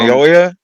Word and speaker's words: Naoya: Naoya, Naoya, From Naoya.